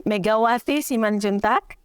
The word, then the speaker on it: Megawati Simanjuntak: So I'm Megawati Simanjuntak.